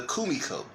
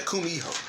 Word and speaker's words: kumiho: who is uh the kumiko yeah yeah the the kumiho or kumiko yeah i see it right i think i said it right yeah kumiho kumiho with h which is a nine-tailed fox